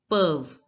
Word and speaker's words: peuvent: Perv. ENT is not pronounced in French. So, it becomes perv.